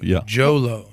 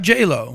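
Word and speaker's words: Jho Low: Who was Jolo, not J-Lo.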